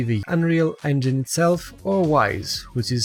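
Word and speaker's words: Wwise: can either be the Unreal Engine itself or wise which is spelled WWI SE yo' then specifies that for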